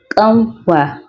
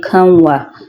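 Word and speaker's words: ƙanwa: If you want to pronounce it properly you have to use the y that has apostrophe at the back. But a non-native speaker will say y which is the wrong pronunciation.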